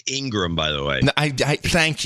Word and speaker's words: Ingraham: Opinion people are Hannity, Ingraham, Tucker Carlson. It's Ingram, by the way.